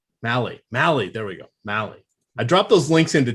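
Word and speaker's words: Mahle: him out yet and then you've got tyler mele mally mally there we go mally i dropped those links into chat so people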